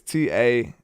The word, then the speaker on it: Taron: I don't know how you want to pronounce that. It's Taron.